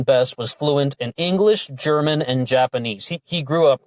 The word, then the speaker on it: German: a suspect named German Kenneth Lester German sometimes pronounced gehrman and with Kenneth's eyes